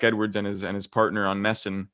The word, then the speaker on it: NESN: With Jack Edwards and his partner on Nesson. Is it Nesson or NESN? I don't know how to pronounce that. I think you can get away with Nesson.